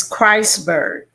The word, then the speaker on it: Christburg: Am I saying is it Christburg or Christburg? It's Christburg. I've been getting you wrong all this time. Did you was it like scratching fingernails on the chalkboard every time I said Christburg? No, many people often mispronounce it, but I'm okay with it. But just think about God and Christ.